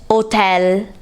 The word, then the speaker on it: hotel: In Italian, we write hotel in the same way, but we say it hotel without pronouncing the H.